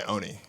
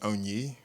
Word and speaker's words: Onyi: Oh, I just go by Oni. It's like Tony without a T. I lie. It's actually pronounced Onyi, but in a desperate